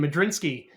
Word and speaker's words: Modrzynski: thing we talked about my last name madiny uh very hard to pronounce when we have a silent Z in the middle of your name you know you're polish